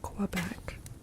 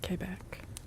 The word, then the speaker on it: Quebec: If you're pronouncing it like an Anglophone, it's Quebec. If you're pronouncing it more Frenchy style, it's Quebec.